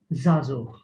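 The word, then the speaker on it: żagħżugħ: Then there is this case, zazuch. The first ein, it is not pronounced because it is found at the center of the word, but then at the end, it is pronounced as a h.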